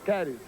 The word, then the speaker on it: Cades: Às vezes se escreve Cades, mas a pronúncia é caris é Gregory Caris.